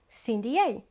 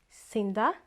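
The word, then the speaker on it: Cyn D'A: So altogether, Cindy A. Easy? Do you understand now? So let me know which pronunciation you think is best. If pronunciation number 1, Cinda, pronunciation number 2, Cindy A.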